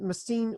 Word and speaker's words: Messines: M ESS I an es machine the S is silent machine Ridge okay that's in Belgium us in Belgium